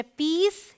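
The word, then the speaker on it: piece: वो क्या है कि जब आई ई साथ में है तो इसे हम ई करके बोलते हैं ठीक है मतलब आई के बाद आप का ई आ जाए तो यह है पीस यह है नीज यह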